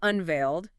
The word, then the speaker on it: unveiled: And unveiled, back to the D sound. Unveiled. The notes also mention the word machine.